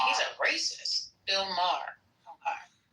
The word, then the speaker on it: Maher: thing, I see Wayne Brady went after Bill Moyer. How do you say his name? Moyer. Moyer. Saying he's a racist. Bill Maher.